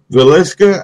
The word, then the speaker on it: Villisca: it's kind of funky I hope I can pronounce it right it's called the Villisca ax ax Murder House you got you got